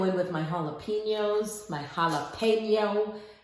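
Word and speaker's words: jalapeño: I'm going to go in with my jalapenos, my jalapeno. My Spanish friends tell me that's how you say it, jalapeno.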